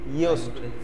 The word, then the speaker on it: Yoast: ইয়োস্ট, YOUST, ইয়োস্ট বা YAUST, ইয়োস্ট। ইয়োস্ট বানান করেন তো?